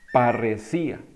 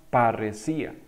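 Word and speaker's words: parresía: palabrita sí qué bueno se dice parecía se llama parecía y usted dirá y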